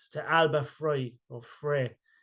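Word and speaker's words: Alba Fyre: Alba Fry, is it? Yeah, that's it. Alba Fry.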